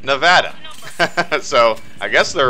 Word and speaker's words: Nevada: But then again, I'm not from there, and the people that live in Nevada called it Nevada.